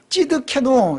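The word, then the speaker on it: צדקנו: 예호와 찌드케노 이렇게 돼 있어요. 예호와, 이거 여호와죠. 예호와 찌드케노. 이 찌드케노라고 하는 이 발음이요. 어떤 발음하고 비슷하냐면 시드기야라는 발음하고 비슷해요.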